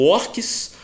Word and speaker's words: orques: Umas coisas que tinha na Martins Fontes era a tradução de alguns nomes, como por exemplo orques. Orques na tradução da Martins Fontes escrevia O-R-C-S, orques. Aqui se escreve com Q-U-I-E, orques.